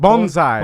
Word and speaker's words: bonsai: Bonsai.